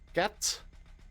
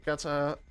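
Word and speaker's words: gatta: hiding spot in spandage it's uh Gat no it's Gata or G and in Italian it's Gata in plural you add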